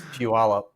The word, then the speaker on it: Puyallup: It's Puyallup.